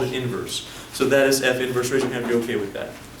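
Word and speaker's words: f⁻¹: this an exponent no no it just it's pronounced F inverse so let's all say this with me for a function the inverse is denoted what is that F inverse don't say F1 okay don't say that that negative 1 we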